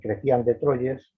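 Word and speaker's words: Chrétien de Troyes: obra que mostró a usted al principio de crecían de troyes pronunciado así un trovador francés de la provenza que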